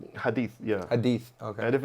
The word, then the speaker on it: hadith: Yeah, like they're very, That's how you pronounce it, right? hadith, yeah.